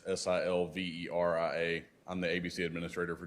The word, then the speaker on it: Silveria: It's Silveria.